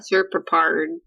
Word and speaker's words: serpopard: We're gonna get because it's supposed to be like serpent leopard. Yeah. Serpopard. Well, it sounds like you're just messing up. There is no correct pronunciation. It's just a modern coinage. It's a portmanteau of serpent leopard.